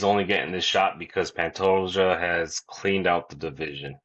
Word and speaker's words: Pantoja: I'm just not pronouncing it right. Say his name. Pantoia.